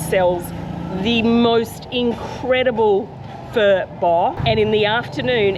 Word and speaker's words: Phở: f f fo so obviously it's not Foe and I do call it that sometimes by accident even though I've been eating fur since 2003 um and I'll tell